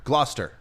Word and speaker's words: Gloucester: Okay, so Paul said it's pronounced Gloucester. Gloucester.